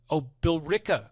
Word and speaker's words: Billerica: And he says in Billerica, and I was listening to it, and I'm like, and he says it again, and I'm thinking, and I'm like, Billerica.